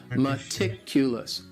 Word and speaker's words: meticulous: And the stress is on that second syllable, meticulous. Meticulous. That first syllable also has that schwa, that sound, that reduced vowel sound.